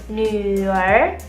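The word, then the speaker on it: 女儿: Sedangkan kalau misalnya teman-teman punya anak perempuan, panggilnya nuer.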